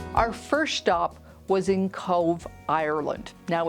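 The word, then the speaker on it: Cobh: Our first stop was in Cove Ireland. Now it's spelt C-O-B-H, but I'm told that you pronounce it Cove.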